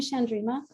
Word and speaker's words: Chandrima: only shandrima chatter Jay did I pronounce the name right first and foremost you were so close no please tell the people please tell the people the people Sandrina you can call me shandrima uh Chatterjee Chatterjee I'm